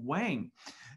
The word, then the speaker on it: Wang: in the united states people pronounce his name wang and as someone who speaks chinese uh i'm always a little loathed to in a way pronounce it in the american pronunciation but uh these presentations